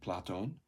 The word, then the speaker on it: Platon: So here we've got an acute accent on Platon, tells us to stress that syllable.